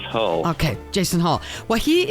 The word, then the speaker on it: Hull: Hall J hey Jason am I mispronouncing your last name first of all no you are correct it is Hall okay Jason Hall well